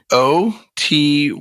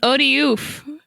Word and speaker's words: Otyugh: One of the long-standing mysteries of D&D is how do you pronounce this word? Otyug. I don't know, dude. Odiug. I like Otyugh. It's like an alley-oop, but it's like the opposite of an alley-oop.